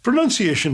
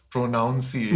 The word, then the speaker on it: pronunciation: first word is pronunciation what is the right and the wrong way of saying this word pronunciation is correct yeah and not pronunciation not pronunciation pronunciation um and it's actually linked to enunciation right which is to speak clearly clearly and um it's not linked to prona which is where the confusion comes from yes and what about